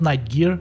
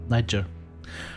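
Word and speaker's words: Night Gyr: So Niger. All right. Niger. That's done. Not night gear. Nighter. All right.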